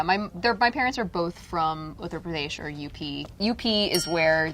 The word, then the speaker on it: Uttar Pradesh: try to pronounce it. Say it one more time. Uttar Pradesh. Uttar Pradesh.